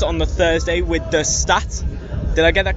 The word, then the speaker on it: Staat: So I'm here at 2000 Trees on the Thursday with the Staat.